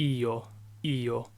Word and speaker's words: io: first person singular I and Italian it's a yo-yo it's two syllables yo and then you singular second person